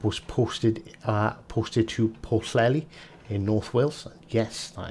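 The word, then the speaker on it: Pwllheli: ended uh phillip was posted uh posted to porcelli in north wales yes that is 100 the current correct pronunciation and on hms royal arthur in wiltshire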